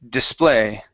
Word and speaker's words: display: let's see here uh display the stress is on the very end instead of display it's display display okay good so we're